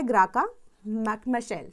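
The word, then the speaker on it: Graça Machel: ग्राका मशेल। ठीक है? या मैचेल जैसे भी आप इसको प्रोनाउंस करना चाहते हैं।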